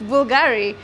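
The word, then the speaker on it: Bvlgari: you'll never forget right it's like Bulgari you never know it was a bull because it's a v but then when you learned now you want to tell everybody guys it's Bulgari and that's what everybody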